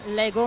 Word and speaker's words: Lego: Bon, et je pense que pour finir, les classiques, les Lego, en portugais, ça devient Lego, mais avec l'accent sur la première syllabe, on dit o Lego, o Lego.